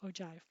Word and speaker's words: ogive: doesn't look like that but that's how you pronounce it ogive and that shows you the cumulative frequency of